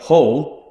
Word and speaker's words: Hull: It's very rare we pronounce the H in anything. Like, we've got a location in Hull. Yeah. It's Enigma Hull. It's not Enigma Hull. That'd be unheard of. It's Hull.